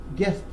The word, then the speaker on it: guest: So God, guest. So the U is silent.